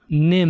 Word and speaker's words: NIMH: Institute of Mental Health, NIMH. The H is silent.